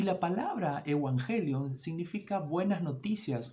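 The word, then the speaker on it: εὐαγγέλιον: Originalmente se la dice como Evangelion, es la pronunciación en griego, y era una palabra que se utilizaba en ese tiempo.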